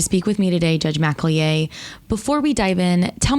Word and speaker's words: McElyea: the time to speak with me today judge mcallier before we dive in tell me a bit